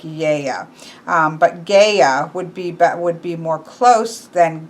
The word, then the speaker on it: Gaia: Chris said that this is very often mispronounced. Technically, it should be Gaia, not Guy, more Gaia. But then in Greek, it would be more Yea. So not that there's not a G sound there.